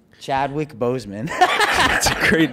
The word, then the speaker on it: Chadwick Boseman: Chad Boswick? Chadwick Boseman.